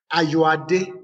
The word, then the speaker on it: Ayoade: Ayoade is my name. Ayoade, like H-A-R, pronounced H-A-R-Y-O-A-D-E, then, like.